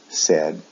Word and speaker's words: said: pronunciation is different say said said the pronunciation is a short e sound e said in both